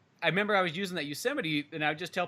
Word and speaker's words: Yosemite: they'll be like, oh, Yosemite, and I'm like, Yosemite.